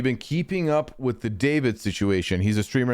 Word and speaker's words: D4VD: David is spelled D4VD.